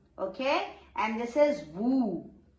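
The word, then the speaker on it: vous: okay and this is vu s will not be pronounced here so vu Vu Vu means you in the respectable way you can say and this is new.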